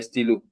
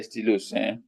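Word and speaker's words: stylos: So the S is silent. So we still say de stilo, but not de stilos.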